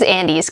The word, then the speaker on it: Andes: It is Andes, because like the Andes Mountains.